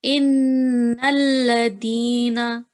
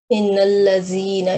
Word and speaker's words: إن الذين: Innalladina. Innallazina. It is dal. Okay. Innallazina. And you added wow here. Va here. There isn't any va here. Okay. So innallazina yatluna.